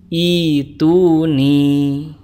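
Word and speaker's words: ائتوني: Nah, teman-teman sekalian, disimpulkan bahwa kata ituni di surat Al-Ahqaf ayat keempat, kalau diwasol dibacanya fis samawati tuni, sedangkan kalau diwaqaf dibacanya fis samawat ituni.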